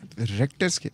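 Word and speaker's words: Richter: रेक्टर रेक्टर scale अच्छा रेक्टर को आप देखो स्पेलिंग इसकी क्या है नहीं आर ई सी एच एच अजीब सी बात रेक्टर स्केल के स्पेलिंग अगर हमें कोई पूछ रेक्टर स्केल तो हम सधा कहेंगे आ सी टी ई आर टी ओ आर इस तर करेंगे वो आर ई सी एच करते हैं हम तो रेक्टर स्केल के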